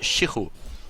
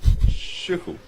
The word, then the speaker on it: Shichu: So it's actually pronounced Shichu. Shichu. Exactly. Okay. I pronounced him wrong for months, and at some point